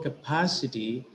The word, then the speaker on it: capacity: So in the word capacity, it is the syllable pa which is receiving accent. In the word examination, it is nay, the syllable nay, which is receiving accent or stress.